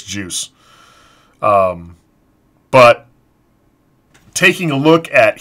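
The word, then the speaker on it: Guice: Is it Geis or Juice? I've heard it pronounced both ways. I want to say it's Juice.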